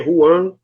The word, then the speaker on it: Juan: Se escreve Juan, se lê Juan.